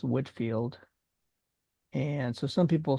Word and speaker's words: Whitefield: This particular film is about George Whitefield, spelled Whitefield, but it's pronounced Whitfield.